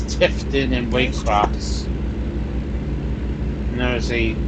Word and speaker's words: Tifton: tip titan or i don't know how to pronounce it though it historic tifton it's tifton and waycross and there's a uh little mini